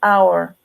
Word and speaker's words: hour: why you say an hour because in that case the age is not pronounced and it has a vowel sound like our you say an hour